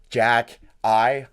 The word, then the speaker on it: Xhekaj: so his name pronounced Jack I like the first name Jack and like the word I is from Albania and